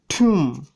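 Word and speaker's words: tomb: যেমন ঠুম, এখানে এমবি রয়েছে তাই বি এর উচ্চারণ হয়নি।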